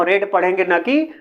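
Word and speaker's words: read: गलत होगा इसलिए की हमने यहां पर लिखा तो रीड ही है लेकिन रेड की स्पेलिंग भी यहां पर रेड ही दर्शनी है इसलिए यहां पर हम रेट पढ़ेंगे अगर हम भाई और रीड पढ़ देंगे तो गलत हो जाएगा इसलिए हम यहां पर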